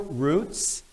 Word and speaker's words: Routes: About a year ago, I read a book entitled Hebrew Roots, Jewish Routes. Although that word can be pronounced roots as well.